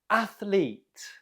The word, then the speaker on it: athlete: say this word athlete athlete how did you do the stress is on the first syllable athlete okay number two how